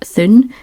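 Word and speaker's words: Thune: in a city called Thun Thun I think it's pronounced t h u n e um but nobody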